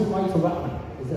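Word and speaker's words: Rahman: I was saying you were so down before, but you had 2 fights for Ratman. Is it how Ryan? Yeah. How do you pronounce it? Ratman.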